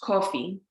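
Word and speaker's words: кофе: automobile and then finally coffee which in russian is pronounced kofi so in the last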